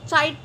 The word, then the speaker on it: chitin: The cell walls of fungi are composed of chitin and polysaccharides. Guys, याद रखना, हम इसको chitin नहीं chitin पढ़ेंगे. chitin. ठीक है, chitin. Okay. So याद रखना है ये आपको, just for pronunciation.